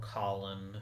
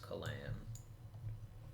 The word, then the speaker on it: Kalan: Or Colin, but I do think it's meant to be pronounced Kalan.